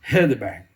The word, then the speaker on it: Heidelberg: Em 1518, ocorreu a disputa de Heidelberg. Se pronuncia assim.